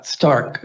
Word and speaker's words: Stark: your last name uh Stark like Tony Stark oh that guy okay